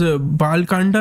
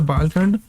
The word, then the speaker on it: Bal Kand: There's Bal Kanda and there's Ayodhya Kanda. So I think we started off with reading the Bal Kanda. Bal Kand. I have to stop pronouncing A's.